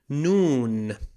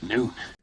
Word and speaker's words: نون: Noon. High noon? Noon. No, not the time of the day. Noon. The N of the Arabic alphabet. Pronounced exactly like the letter N.